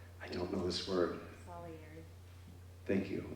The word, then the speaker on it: Salieri: Salieri. Thank you. How do you say it? Salieri.